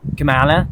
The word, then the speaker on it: Kamala: I understand that Republicans can't pronounce words, but it's pronounced Kamala, dude. Kamala.